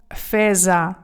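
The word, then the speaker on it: fesa: Тому гарно вимовляємо феза. Буква з феза. Ще поясню чому. Тому що коли ви бачите в італійській мові буква С між двома голосними, вона читається завжди як з.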